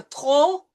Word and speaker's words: trop: Then we have our favorite combination of the silent T with the R, trop.